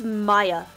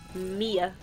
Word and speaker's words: Mia: name spelt Mia, and when he read it out loud, the girl was like, "It's Maya." I'm like, "But it's spelled Mia." Yeah, like literally, this English language sucks.